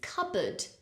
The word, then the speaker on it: cupboard: completely silent debt debt another word with a silent letter is cupboard cupboard you can see in the spelling of the word there is a p but we do not say cupboard that would be a very difficult word